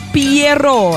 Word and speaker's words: Pierrot: Eta Piero, assim na bota, pronuncia também Fantasia de Piero.